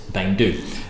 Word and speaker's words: Beinn Dubh: you spell it but you don't actually go be in depth it's bang dude which means Black Mountain